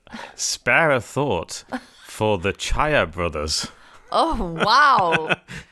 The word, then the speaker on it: Czaja: Spare a thought for the Chaya brothers. Oh, wow. Do you Chaya wanna- spelled like the seeds? No, that would be good. No, it's spelled CZAJA.